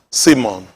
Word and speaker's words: Simon: Pronounced S-E-E-M-O-N. Simon.